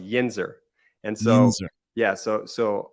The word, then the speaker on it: yinzer: since I moved out to Pittsburgh it's actually pronounced yinzer and so yeah so so a lot of